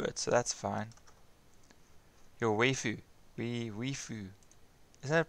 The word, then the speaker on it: waifu: Your waifu. Waifu. Isn't it pronounced? Waifu.